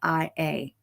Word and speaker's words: dysautonomia: Hey Google, how do you pronounce Dysautonomia?